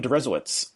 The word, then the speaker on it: Deresiewicz: r.a coadway and my guest today is william derezowitz uh bill could you introduce yourself first of